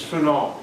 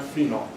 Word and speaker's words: phenol: Now, I pronounce it the correct way. Most people pronounce it the wrong way. It's phenol, not phenol.